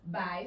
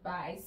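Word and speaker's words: 白: we have is white white is called by so remember we have the opinion pronunciation part and we have the hands okay the character so white is pronounced by sir this is the character by sir okay yellow juan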